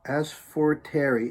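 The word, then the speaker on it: Asforteri: my favorite songs by them as for terry as for terry it's spelled a-s-f-o-r-t-e-r-i as for terry i don't ask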